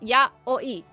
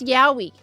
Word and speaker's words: Yayoi: Yoi is is usually how it's ya oi. Okay, in Japanese ya. Okay, it's not pronounced yahi.